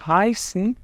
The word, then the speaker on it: heiße: E heiße, gente, essa letra aqui no alemão se chama SZ, tá? Não é um beta. É uma letra que é típica alemã e ela vai ter o som dos dois S's.